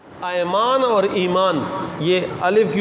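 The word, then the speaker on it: إِيمان: ہوتا ہے یمین کی، اور یمین کہتے ہیں قسم کو زبر کے ساتھ، ایمان۔ اور ایمان زیر کے ساتھ وہ عقیدہ ہوتا ہے جو عام لفظ استعمال کرتے ہیں نا، ایمان کا۔ تو یہ تلفظ میں بھی فرق کا لحاظ رکھنا چاہیے۔ ایمان یمین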